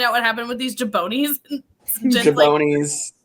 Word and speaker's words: jabroni: what happened with these jabronis? Jabronis. Like, what does that mean? I've watched a lot of wrestling. It's jabroni. Why is he saying it wrong?